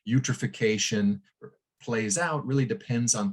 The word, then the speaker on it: eutrophication: benthic microalgae and so they call this process eutrophication rhymes with nutrification and sort of the